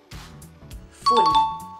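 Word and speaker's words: ฝุ่น: In Thai language, we say fun. No, e. Only fun.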